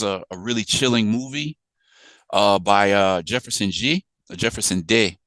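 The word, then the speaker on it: Jefferson De: So this was a really chilling movie by Jefferson Day is how you pronounce it.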